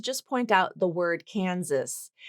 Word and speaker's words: Kansas: We also have I wanted to just point out the word Kansas. So that first S in Kansas is a Z sound, not an S sound, but the second S is an S sound.